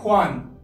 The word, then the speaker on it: Juan: Next letter लेते हैं जे, जो स्पेनिश में बोला जाता खोता, लेकिन इसकी प्रोनाउंसिएशन आती खागी। हमेशा इसकी प्रोनाउंसिएशन खागी ही आएगी। जैसे कि यहाँ एग्जाम्पल देख सकते हैं JUAN, खोता UAN, इसको हम बोलेंगे ख्वान।